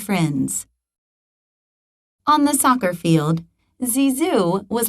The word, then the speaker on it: Zizou: name zinedine yazid zadana they gave him a new nickname zizu pronounced zizu in bordeaux zizu worked hard